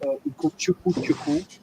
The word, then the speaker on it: Ugochukwu Chukwu: So my name is Ugochukwu Chukwu. That's how it's pronounced in my place.